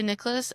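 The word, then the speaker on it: Nicklaus: It's his last name is spelled N I C K L A U S and I really want to say Niklos every time I see it. Um, but I've heard it say Nicholas and I'm just going to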